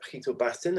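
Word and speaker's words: Gietel-Basten: I always mispronounce his name. Is Gittel, but he will say it correctly in the video that we'll see now.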